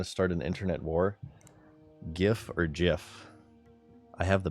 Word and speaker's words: GIF: It is GIF. Do you know why? Because it stands for Graphics Interchange Format. G, hard G.